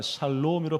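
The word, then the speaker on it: שלום: 어, 첫 번째, 두 번째, 세 번째.요 자음 세 개가 샬롬이라 발음이 되는데 이게 평화거든요.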